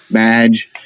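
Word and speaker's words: B'dg: guy named badge me VG badge is how they pronounce that who's currently as far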